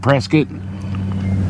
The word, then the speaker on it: Prescott: and that's something we both learned it's not pronounced Prescott it's Prescot it doesn't look like Prescot but